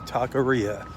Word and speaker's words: taqueria: In case you're wondering how you say that word, it's taqueria. There's a way I remember it, but I'm not going to share it with you. But it kind of rhymes with what a lot of Mexican food gives to you.